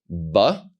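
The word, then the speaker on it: בּ: is without a DOT the letter with the dot is pronounced ba and then the letter without the dot is pronounced VA we're going to look at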